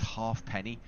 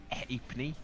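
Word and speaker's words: Halfpenny: Uh, but it's more pronounced as in hapney.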